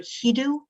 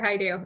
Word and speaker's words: Haidu: Hedu Haidu. Sorry for mispronouncing your last name. That's okay. Dr. Haidu. It uh it's very common uh mistake.